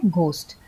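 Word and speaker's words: ghost: होता है जैसे राइट अन्यथा ग होता है जैसे घोस्ट कभी-कभी जीएच का फ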